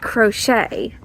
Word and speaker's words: crochet: and she's right that crochet rhymes with sleigh it also rhymes with Che but I don't know